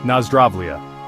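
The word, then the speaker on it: Nazdravlje: Instead, they say Nazraia, pronounced Nazrai, which means to your health.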